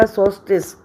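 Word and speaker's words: solstice: एल तो silent रहेगा, सोल्स्टिस।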